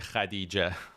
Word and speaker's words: Khadijah: was Muhammad Hussein and her mother was Khadijah or as pronounced in farsy Khadijah Khadijah is the farsy pronunciation uh so she um